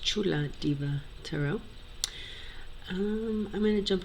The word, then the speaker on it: Chula Diva: It's pronounced Chula Diva Tarot.